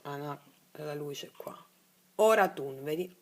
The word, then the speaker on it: Oratun: Oratun, vedi? Oratun. Ma si pronuncia ora in inalazione e tun in esalazione, perché ora riassorbe il reale, tun manifesta un nuovo reale, ed è così.